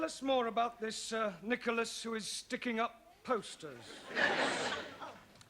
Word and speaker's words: Nicholas: upon a times there was a man called nickel ass that's not quite right no no once upon a time there was a woman called Nicholas it's pronounced Nicholas so right once upon a time there was